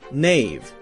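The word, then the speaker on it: knave: in English were pronounced a word like Nave k-n-a-v-e would have been pronounced something like kanave canave now we have a silent k so we don't say Kana we say no knowledge Nave knives we say just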